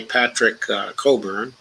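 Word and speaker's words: Patrick Cockburn: This is by Patrick Coburn. That's how you pronounce his name.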